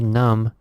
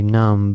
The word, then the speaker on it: numb: thing to be careful numb it's spelled n um be so the B is silent we don't say numb but we just say